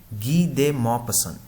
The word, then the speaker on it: Guy de Maupassant: ठीक है, इनका प्रोनाउंसिएशन नाम से हमें पता चल रहा है कि ये फ्रेंच हैं और इस वजह से इनका प्रोनाउंसिएशन थोड़ा अलग है, तो हम इसको GUY को बोलेंगे गी डे मॉपसन।